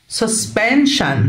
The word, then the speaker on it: suspension: ال S I O N هتنطق شن suspension suspension bridge كوبري.